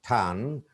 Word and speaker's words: turn: Leisure, pleasure, measure, treasure, often, soften, proficient, efficient, sufficient, special, commercial, turn, what usually Bengali speaking, most Bengali speaking speakers pronounce ton, it's not ton, it's tan, sponge, not sponge, tomb,